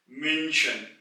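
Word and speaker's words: München: हैं यानी कि जो सिटी है जर्मनी की मशन मशन यहां भी यू यानी कि उ के ऊपर उलट है इसलिए इसकी आवाज को फ्लैट करेंगे मशन और अगर मैं उलट हटा दू तो यह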